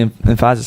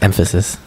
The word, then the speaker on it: emphasis: is really puts the emphasis on it properly, and the team has been playing really, really. The emphasis is on the wrong syllable. Thank you. It's emphasis.